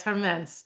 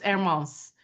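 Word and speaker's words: Hermès: Yes. Yes. Hermes. Or if you speak French, it's Hermos.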